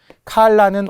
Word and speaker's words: 칼라: 칼라와 컬러가 다르죠. 칼라는 옷깃이에요. 종종 일본식 발음 L이라고 하는 분도 있고 카라라고 하는 분도 있어요. 칼라입니다. 칼라.